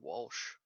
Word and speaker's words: Walsh: yeah for some reason I must have said Welsh because I was drunk it was actually Walsh ah w a l